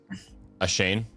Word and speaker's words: Ashane: Ashane?